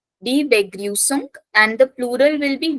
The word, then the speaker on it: Begrüßung: Yeah, Begrüßung. So if you see here, this beta sign is pronounced as double S.